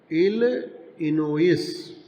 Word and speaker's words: Illinois: He wanted 2 tickets to Galesburg, Illinois, इसको उच्चारण करेंगे Illinois।